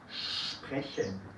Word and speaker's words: sprechen: Y también hacemos este ruido si viene la S con una P. También en el inicio de una sílaba. Spanisch. Sprechen.